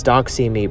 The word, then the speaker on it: Doxy: And so I am making this Doxy project as a representative of that. But also the fact that Doxy me rhymes with Proxy Teen is a whole another reason an additional reason for the the title, you know.